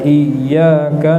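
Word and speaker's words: إِيَّاكَ: Berikutnya, Iyyaka na'budu wa iyyaka nasta'in. Berhati-hati dengan tasdid yang ada di huruf ya. Iyyaka itu bukan dengung ya, tapi cuma ditekan sebentar saja, bukan didengungkan.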